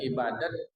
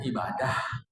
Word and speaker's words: ibadah: Kadang ibadat dibaca ibadah terserah penyebutan tak usah jadi soal. Kadang disebut ibadah. Saya mau bagi tahu kalau dibaca ibadah itu cara baca Arab. Kalau dibaca ibadat itu cara baca Persia.